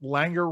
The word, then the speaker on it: Langer: Should I have a segment, Langer rhymes with anger?